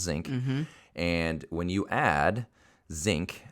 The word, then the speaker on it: Szink: my last name is zinc it's pronounced zinc it's spelled differently but it's pronounced zinc and when you add